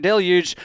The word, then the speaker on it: deluge: I have a whole thing on the history of the word deluge. Y'all are saying it wrong, but I'm trying to appease you. So, there's the the pronunciation if you want to say it incorrectly.